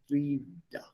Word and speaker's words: wider: Die ausgewanderten Wörter spiegeln oft jenes Bild wider. Please note the spelling, wider. Pronunciation is exactly the same as W-I-E-D-E-R.